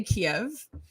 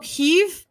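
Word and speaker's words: Kyiv: this the russians say kiev and we're supposed to say it differently right i'm pretty i'm gonna find it i'm gonna rhymes with steve steve keiv oh like that oh keef instead of kiev like that is that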